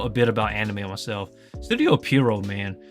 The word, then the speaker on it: Studio Pierrot: I pronounce it Studio Period. It's Studio Pierrot, as in a clown.